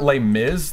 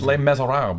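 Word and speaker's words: Les: Lees that's the way it's not L Miz the French don't pronounce it that way it's Lees I don't know I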